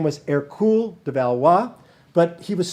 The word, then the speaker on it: Hercule: france eventually his name his birth name was air cool de valois but he was small he was not a hercules character air cooled the french pronunciation pronunciation of hercules and later